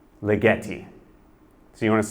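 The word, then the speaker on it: Ligeti: here yeah close so people will often mispronounce it it's a Hungarian name it's lietti so you want to say lietti yeah lietti like spaghetti right so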